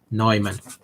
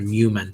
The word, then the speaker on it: Neumann: other one is called lavon neumann or newman depending on how you say it model okay after john